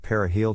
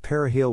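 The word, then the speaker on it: perejil: with dark skin using the shibboleth periheal to distinguish haitians from afro-dominicans when necessary the earth perihil was of difficult pronunciation for haitians as a result of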